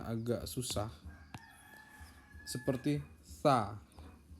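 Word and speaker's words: ثاء: Ya, dari 30 huruf ini ada beberapa huruf yang memang pelafalannya agak susah, seperti sa. Sa di sini letakkan ujung lidah di gigi atas. Sa.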